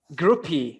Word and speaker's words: Grupe: strong but if you like more groupie or group i'm very curious to know because i i like more group but it's groupie i mean i'm cool with that name what